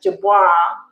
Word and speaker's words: Dubois: So Dubois, that's my grandmother's name. And it's pronounced the same as Alison Dubois, the psychic medium, the famous psychic medium.